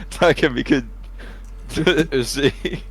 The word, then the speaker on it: Takemikazuchi: Takemikazuchi.